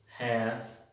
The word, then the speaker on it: half: LF al final de las palabras, la L es muda. Half y calf. La L no se pronuncia.